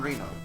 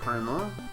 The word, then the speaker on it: Reno: Jean Reno. It's probably not Reno. Reno. John Reno. It is spelled exactly like Reno, Nevada, but it is not.